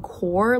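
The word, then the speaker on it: Kaur: author's name which is jasmine core like apple core not car so i apologize for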